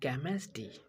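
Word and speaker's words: chemistry: ST CH के जगह हो तो ST केमिस्ट्री। क्या क्या क्या चीज का उच्चारण आया, कौ का। CH के जगह केमिस्ट्री, कौ का उच्चारण है।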